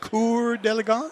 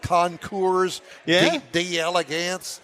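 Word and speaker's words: Concours d'Elegance: really pronounce conour delance is the way it's pronounced conour delance uhhuh conour although it looks like conour d Elegance no it's not uh that's maybe the hillbilly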